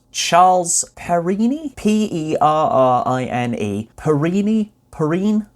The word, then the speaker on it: Perrine: by someone called Charles Perrine? Perrine? Perrine? How would you say that? Yeah, Perrine. Perrine. He was born in America, so I don't think it would have been a French pronunciation.